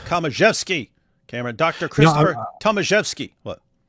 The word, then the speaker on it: Tomaszewski: It looks like Thomas Zewski, but Ed Komaszewski is spelled the ending is spelled the same, and that's Komaszewski. So I think it's Komaszewski.